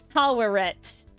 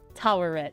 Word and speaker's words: Taweret: Taweret. That I will always pronounce wrong. Taweret, yeah.